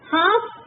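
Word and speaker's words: half: हाफ, L is silent.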